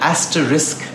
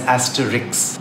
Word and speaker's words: asterisk: Say it right and you'll spell it right. People say and spell asterisk as Asterix.